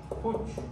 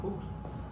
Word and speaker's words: Fuchs: Fuchs, mancha de Fuchs. Fuchs, lo llamamos Fuchs.